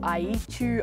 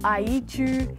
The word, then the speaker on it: Ayichu: yeah so my names they pronounce it I eat you I eat you sometimes I'm just like no it's IU a no it's IU like just s it out that's how I Say My Name by Saturday mornings we